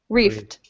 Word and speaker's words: reft: with these uh participles this is a one syllable word reft rft reft all right